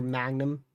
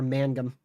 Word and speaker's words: Mangum: I would probably be towards, probably near Magnum. Or Mangum.